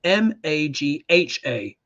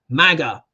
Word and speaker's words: Magha: are in Maga Nakshatra, but in Sanskrit it's spelled with an H. It's spelled M-A-G-H-A, but you say it Maga, yeah, or Magha Nakshatra. It's the same, yeah, same sort of sound, onomatopoeia.